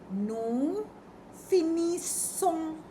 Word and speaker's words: nous finissons: s o n s nous finissons when it is double s it's sa the pronunciation is sa nous finissons Woo, you all finish.